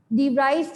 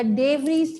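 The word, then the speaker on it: de Vries: उसके बाद हम पढ़ेंगे डी व्राइस theory of evolution या डे व्रीज theory of evolution, जो आप प्रोनाउंस करें।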